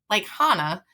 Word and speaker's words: Hanna: But Hanna is like German, Icelandic, Swedish, and they will pronounce it like Hanna. And Hannah is a very Americanized version.